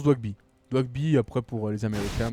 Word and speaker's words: Doigby: Ça se prononce Dwagby.